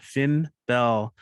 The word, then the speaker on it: Finn Bell: Our next performer is joining us from the San Francisco Bay Area, and their name rhymes with "It's Been Swell." That's right. It's no other than Finn Bell.